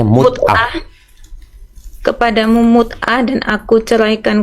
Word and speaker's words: mut'ah: Ya, bacanya mut'ah.